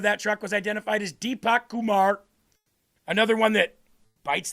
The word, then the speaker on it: Deepak: That's right, Deepak. That's how you pronounce that.